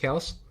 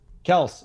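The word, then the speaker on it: Kelce: and said his uh his name is pronounced kels kels and even patrick mahomes came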